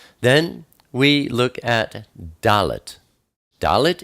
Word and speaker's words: Dalet: Dalet is the number 4, and it's pronounced D, like door.